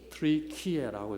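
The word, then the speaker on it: 튀르키예: 그래서 지난번에는 우리가 터키 하다가 이제 터키도 우리 표준말 아니에요. 이제 외래어로 해서 뭘로 정착이 됐어요? 트리키에라고 이렇게 정착이 됐습니다.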